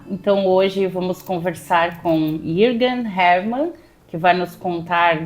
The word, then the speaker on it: Jürgen: trema e aí ficou Jürgen, né? É mais comum o entendimento pela leitura e pronúncia, mas o correto é Jürgen, como se fala de origem alemã.